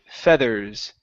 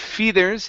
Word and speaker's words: feathers: fur and Fe okay instead of fethers it's in fethers it's fethers feathers F or feathers fur or feathers fur or FEA feathers okay one more time in said feather FEA feathers feathers feathers okay that's better one